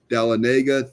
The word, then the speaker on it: Dahlonega: That word I can't pronounce. Dahlonega. Dahlonega, thank you.